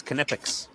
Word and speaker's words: Knipex: People call it Knipex, but it's Knipex. Ask the Germans. They will confirm. I don't know why, but it's Knipex. It sounds ridiculous. It's like the Oompa Loompas came up with that pronunciation. No, the Germans did. The Germans is Knipex.